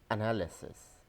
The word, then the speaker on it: analysis: is accountability accountability accountability many business students pronounce this word as analyzes this is not an license this is analysis analysis analysis appraisal appraisal appraisal many